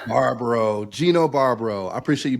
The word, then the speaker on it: Barbaro: looks a little bit harder than your actually pronunciation is Barbaro Barbaro Gino Barbaro I appreciate you be on the